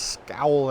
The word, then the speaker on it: Skál: ska with the acute a and above it pronounced scowl in islandic or skull in Fise that is